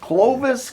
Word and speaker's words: Clovis: So tell us, we were talking off air, is it Clovis? Did I get that pronounced right? Clovis, California, Okay.